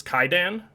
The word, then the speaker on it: Kwaidan: But yeah, just another one of my favorite Kobayashi films is Kaidan, or it's spelled Kwaidan.